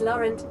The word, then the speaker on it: Laurent: Oh, it's Laurent. I didn't think you'd pronounce the T.